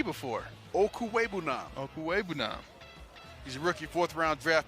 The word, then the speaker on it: Okwuegbunam: Okwuegbunam. I practice. Yeah, that. I know. I got to have a little reminder here. It's a silent G. Ain't nobody heard of a silent G before. Okwuegbunam.